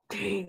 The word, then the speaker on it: Tane: It rhymes with pain. Tane, Which I have in my own every once in a while.